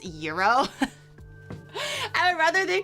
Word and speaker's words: gyro: And I was like, "Oh, this now you tell me euro." And I've been saying it for like years that I thought it was gyro.